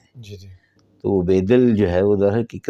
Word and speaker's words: بیدل: جی تو اصل میں ہم تو بیدل کہتے ہیں. جی جی تو وہ بیدل جو ہے وہ در حقیقت بیدل ہے.